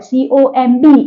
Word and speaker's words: comb: So some words are silent at the end of the word. Comb is comb.